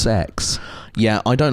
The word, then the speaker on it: CeX: to see cex Aylesbury apparently it's apparently it's pronounced sex yeah I don't like I don't like that